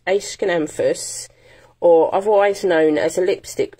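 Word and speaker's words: Aeschynanthus: because the pronunciation well the pronunciation is um it's an a ascanamphus ace can emphasis otherwise known as a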